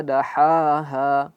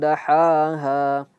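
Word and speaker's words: دحاها: Ya, harus diperhatikan ketika huruf ha dan huruf ha. Ya, mereka ha dan ha ini merupakan huruf yang keluar dari tenggorokan. Tetapi berbeda kalau ha dia keluarnya dari di tengah tenggorokan. Ha ha ha. Jelas dia suaranya ada ha.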